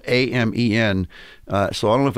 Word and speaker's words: Amen: Daniel, and I never know if I have his name pronounced properly. It's actually spelled A-M-E-N. So I don't know if it's Amen or I think it's Amen, Dr.